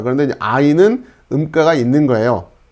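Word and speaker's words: עין: S 발음. 시옷. 싸맥. 자, 그 다음에 아인도 요렇게 Y처럼 생겼는데 이렇게 쓰시면 됩니다.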